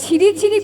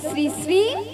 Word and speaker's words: শ্রী শ্রী: ওটা ছিড়ি ছিড়ি নয়, বলো শ্রী শ্রী কি?